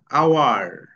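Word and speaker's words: hour: যেমন এখানে অনেস্ট, অ, এইচ এর উচ্চারণ কিন্তু হ হয় না এখানে, অনেস্ট, অ হচ্ছে অ। হ্যাঁ, আওয়ার, অ, আওয়ার।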